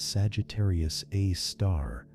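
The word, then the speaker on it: Sagittarius A*: The one in our galaxy called Sagittarius A asterisk, pronounced Sagittarius A star, has a mass of about 4.1 million solar masses and is located about 26,000 light years from Earth.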